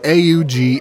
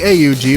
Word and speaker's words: AUG: at sty manle here the name of the weapon is an initialism but is frequently pronounced as though it were an acronym in game the weapon